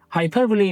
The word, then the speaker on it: hyperbole: Hyperbole means an extreme exaggeration used to make an idea stronger or more dramatic. The pronunciation is hyperbole.